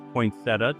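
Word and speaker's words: poinsettia: it's a potia potia Nick says in America we pronounce that as poinsetta just for fun um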